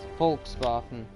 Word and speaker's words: Volkswagen: beetle or the Volkswagen the prop pronunciation is Walt VA or Walts uh no folk VA that's folk VA let's see if it